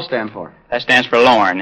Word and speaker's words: Lorne: They'd say, how you spell it? L-R-A-I-N-E? Lorraine? No, I said it's pronounced Lorne.